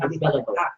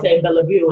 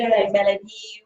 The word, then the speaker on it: Belliveau: His name is Jordan Belliveau. I pronounced it right. Yes, this time it's Belliveau. I was saying Belliveau and trying to read the.